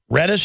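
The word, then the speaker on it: Redus: old honor student robert cameron reddish is how they pronounce that reedus was shot to death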